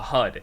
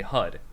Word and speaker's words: HUD: heads-up display yeah exactly and how would you pronounce that as an acronym a hud exactly i like it i was listening i'm